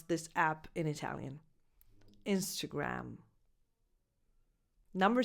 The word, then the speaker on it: Instagram: The correct pronunciation is Instagram. So you start with a lax e, as in the pronoun it, insta, and then the second vowel is a schwa, insta, insta.